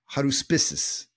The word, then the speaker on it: Haruspices: They were called the Collegium of Haruspices. Yeah, I'm saying it right. Haruspices.